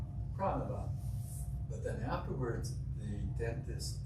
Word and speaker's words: Pranaba: So when I got into the dentist chair and they did the assessment, and the dentist says, so, is it pronounced Pranaba? And I said, you're close. Pranaba.